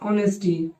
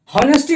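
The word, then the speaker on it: honesty: ऑनेस्टी। देखिए students, हॉनेस्टी नहीं ऑनेस्टी। ऑनेस्टी H silent है, क्या पढ़ेंगे इसमें?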